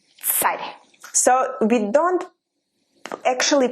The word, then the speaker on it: царь: Like in English you say tsar, Russian tsar, but in Russian we say царь. You hear the difference? Tsar and царь.